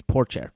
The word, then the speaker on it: Pourchaire: So, in the IndyCar world, Theo Pourchaire, by the way, it's Pourchaire. I've got it right finally. I know how to say it.